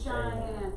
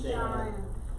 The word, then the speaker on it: Cheyenne: Wyoming, Cheyenne. Yeah, that last one is an Indian word. That's why that one's pronounced a little bit differently.